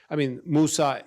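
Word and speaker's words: موسى: But Musa, Ibrahim, or Ismail, as would pronounce it in Arabic.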